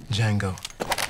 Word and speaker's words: Django: dirty what's your name Jango d j a n g o the D is silent adult supervision is required